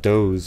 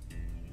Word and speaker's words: Doe: You know, it's weird about Doe's. It's spelled just like does, but you just have to, in context, know it's Doe's.